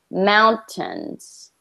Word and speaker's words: mountains: say mountains good better when you're reading you put the emphasis on the tens but we want to put the emphasis on the first syllable mountains try that mountains good